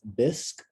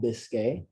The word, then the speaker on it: bisque: me last week that this is pronounced bisque and not biscay and i appreciate that